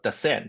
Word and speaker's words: Decent: So you can see that so it should be pronounced as Descent in a sense. Yeah. But most people call it decent capital.